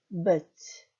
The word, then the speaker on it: być: 자, 마지막 단어도 빛이가 아니고 y 발음, 또는 의 발음 하셔서 być.